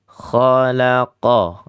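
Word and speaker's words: خَلَقَ: Hati-hati adik. itu tidak ada tasydid. Kalau adik-adik bacanya dengan tasydid, maka lahnun jali kesalahan yang berat.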